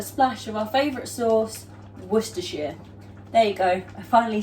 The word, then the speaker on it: Worcestershire: And then to that, we're going to add a splash of our favourite sauce, Worcestershire.